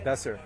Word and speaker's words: Besser: say your first and your last name for me, Sure, it's Besser. and then how do I spell that?